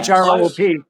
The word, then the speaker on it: Throop: THROOP. Yeah. Yeah. Hang on. Yeah. Did he verbally say troop? Yes. Well, no, he made that rhyme.